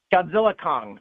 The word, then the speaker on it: Godzilla x Kong: So is it Godzilla, just Godzilla Kong or Godzilla X Kong? How do you say it? Godzilla Kong.